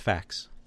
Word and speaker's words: FAQ: Mark JP wolf nice that's pronounced facts yes so basically uh